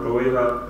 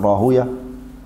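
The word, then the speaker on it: Rahwayh: Imam Ahmed, Ishaq ibn Rawayha, Ishaq ibn Rahuya. Two ways you can say his name, you can say Ishaq ibn Rahuya, or راهوية على سيبوية صح؟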